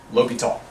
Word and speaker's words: L'Hospital: and this is called anybody guess how you how you pronounce this L tall l ly tall's rule okay so low P tall lowy tall lowy tall's rule but there's more it's